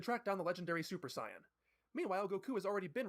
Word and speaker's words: Saiyan: breakdown, but ultimately Goku is able He's saying Saiyan because that's the correct way to pronounce the word. Saiyan is how, like, we say it, right? Like Super Saiyan. But Saiyan is how you say the word.